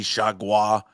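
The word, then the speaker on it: Chargois: They just had a reliever from the Marlins, JT Chagua. Am I saying it correctly? You got it. Chagua.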